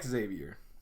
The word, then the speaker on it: Xavier: It's pronounced Xavier. Okay. Okay. I don't know if you pronounce it like the school or like the Spanish version of it.